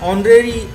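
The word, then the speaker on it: honorary: तो चूंकि ऑनरेरी में एच साइलेंट है तथा उच्चारण ऑनरेरी अ से शुरू हो रहा है जो कि एक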